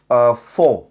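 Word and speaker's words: faux: अच्छा ये जो ऑपरेशन का नाम जो मैंने आपको बताया ना अंग्रेजी का लफ्ज है जी फो एक्स इसके अंदर साइलेंट होता है एफ ए यू एक्स तो यानी झूठा एक जाली ऑपरेशन।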